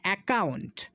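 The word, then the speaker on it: account: ইউ থাকবে সেখানে কিন্তু ডাবল সি এর উচ্চারণ শুধু একটাই করতে হবে ক এই সাউন্ডটাই আমাদেরকে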